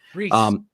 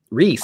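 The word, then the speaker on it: Reis: We have is it Reyes on the art or Reyes? I don't know how to say his last name. Their name. Reese. Reese. Ivan Reese, Thank you.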